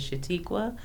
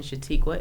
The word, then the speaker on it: Shuatequa: Facebook or Instagram on Facebook my name is shatiqua the real estate broker in shatiqua is spelled s h UA t e qu UA